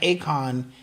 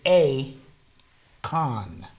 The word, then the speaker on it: Akon: yeah first of all his name is not Akon it's a Khan he's a con right